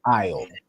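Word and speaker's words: על: So you're starting from this first part, which is pronounced I'll.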